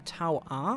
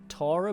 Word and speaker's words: Taur: cup of green tea I think you could also call again tau R or Torah but tower just seems to roll off the tongue a little bit better and is just easier to pronounce anywhere this is a strategy